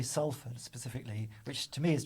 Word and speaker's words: Salford: canals, but then I think because Salford people can't say their T's, it changed to Salford. I see. Yeah. it does make it Yeah. easier to pronounce, Yeah. though. Salford. Yeah, Salford Saltford is would very. be really difficult.